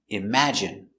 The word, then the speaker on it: imagine: at the pronunciation pronunciation imagine M im a im J J strong sound J imag I imag imagine imagine stress on the second syllable imagine imagine imagine imagine